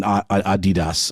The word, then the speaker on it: Adidas: one side and then Adidas on the other side nadidas means ADI dasler a lot of people maybe in America you know in the UK and Europe they pronounce it Adidas um but they finally